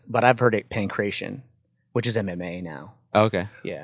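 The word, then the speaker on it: pankration: So we're talking about sports like wrestling, boxing, and then how they pronounce is pancration, but I've heard it pancration, which is MMA now.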